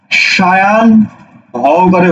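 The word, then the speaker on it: সায়াহ্ন: এর উচ্চারণ কি হবে? সায়ান হকারে হো, সায়ান হো।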